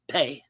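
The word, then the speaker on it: Phat: The seed mantra Fat, which in Tibetan Buddhism is pronounced Pe, is often associated with the mantras of the wrathful deities.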